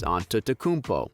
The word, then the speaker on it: Antetokounmpo: You say Antetokounmpo in the Nigerian way, and if you want the Greek way, it's Antetokounmpo. It's probably better to do it the Nigerian way considering he's Nigerian descent and the T's there are pronounced as D's.